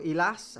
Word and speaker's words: Elias: In today's video, majority audio, Elias or Elas, however you want to say it. I say Elias because I think that's how it's actually pronounced.